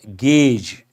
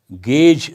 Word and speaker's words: gauge: here usually it is mispronounced how do you pronounce that gauge gauge that's how you have to pronounce h measure